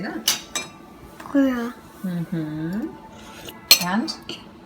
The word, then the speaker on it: Brühe: Elodie always tries to make English words German by just pronouncing them the way a German would. Broth is Brühe. Can you say that? Brühe.